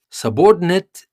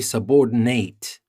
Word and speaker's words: subordinate: have to be careful subordinate is the pronunciation of the noun but if you want to use it as a verb you change the stress and you say subordinate so in the first